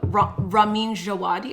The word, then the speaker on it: Ramin Djawadi: No, I think for this show in particular, Ramin Djawadi, I think is that how you say it?